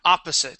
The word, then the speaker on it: opposite: word opposite okay yeah opposite so stress is at the very beginning of the word okay and then instead of saying sight opposite it is opposite opposite opposite opposite very